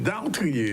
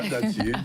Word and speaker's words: dartrier: Donc nous en créole, on dit dattier. Oui. Parce que nous pas prononcer ces R là. Mais nous c'est dartrier. C'est dartrier. Oui. Ah, pas dattier.